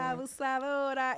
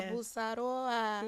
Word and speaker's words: Abusadora: Abusadora. It is like Dora. Oh, yeah. Abusadora.